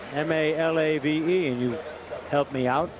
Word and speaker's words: Malave: just about to ask you siron how to pronounce that name m a l a v e and you helped me out Malave from the